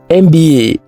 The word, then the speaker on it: MBA: MBA is an abbreviation, and the letters in this abbreviation are pronounced individually. So the first letter M begins with a vowel sound, eh.